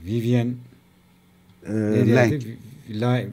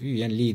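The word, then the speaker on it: Vivien Leigh: Vivian Leng. Vivian Lee diye mi okunur? Vivian Lee diye okunur.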